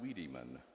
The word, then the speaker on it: Wiedeman: Pronounced Wiedemann, the naturalized W is not V, understand, as in Germany, as Elizabeth explained to her sister.